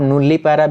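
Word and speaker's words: nullipara: जाएगा आपका नुली पैरा इसे आप नुल्ली पैरा भी पढ़ सकते हो या फिर नल्ली पैरा भी पढ़ सकते हो आपका प्रोनाउंस जो आपको अच्छा लगता है उसे आप लोग बोल सकते हो उसके बाद यहां पे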